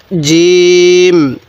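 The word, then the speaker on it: جيم: কি হ্যাঁ বলে ফেলুন জিম কি হরফটির নাম জিম জিমটি আমরা শক্ত করে উচ্চারণ করব তাহলে আরেকবার এখান থেকে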